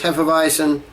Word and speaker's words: Hefeweizen: little bit better um from the website it says heffa-bison and they even spell out the pronunciation recalls the classic beers